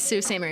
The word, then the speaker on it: Sault Ste. Marie: It's Sault Ste. Marie. But why? Like, that's not how it's spelled.